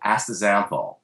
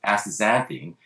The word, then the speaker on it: astaxanthin: to let you know the x in the middle of the english word is pronounced as a z uh not as an